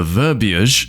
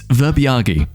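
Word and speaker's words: verbiage: Guy tries to scold someone over verbage. Doesn't understand words. Sorry, just had to Google to double check the pronunciation of this word. It's verbiagi.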